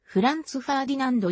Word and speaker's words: Franz Ferdinand: しているが英語の発音に従えば franz ferdinand になる 2nd アルバム行くと